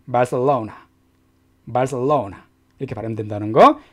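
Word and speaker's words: Barcelona: 마서 와우나 그래서 빨 4 오후 나 이렇게 발음이 심장에서 is 람 말사 오나 말씀 써온 이렇게 하면 된다는거 기획실 좋겠습니다 이렇게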